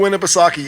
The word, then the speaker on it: Winnipesaukee: How do you pronounce it? Lake Eddie? Winnipesaukee.